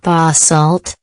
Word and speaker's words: basalt: of dark lava rock referred to as basalt pronounced basalt is also present on earth the sea of